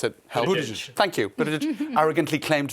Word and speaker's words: Buttigieg: I can never pronounce it. Help. Buttigieg.